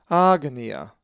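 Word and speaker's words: ἄγνοια: The accent is over the alpha, agnia.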